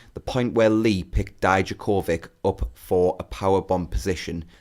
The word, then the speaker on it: Dijakovic: Like, in Croatian, I think it should be Dijakovic.